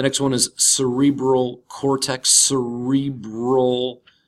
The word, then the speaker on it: cerebral: one is cerebral cortex cerebral not brow but cerebral cortex largest region of the mammalian brain and plays a key role in memory attention perception cognition awareness thought language and consciousness the cerebral cortex is the part